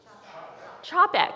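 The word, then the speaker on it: Čapek: Chapek.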